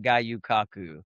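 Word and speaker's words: Gyu-Kaku: the 4th of July, and then the 4th of July, we went, and had all you can eat at Gayu Kaku, Oh, good pronunciation.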